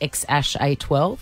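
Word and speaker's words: X Æ A-12: And it had that funny name, X-A-E-A-G-L-A, pronounced X-A-12.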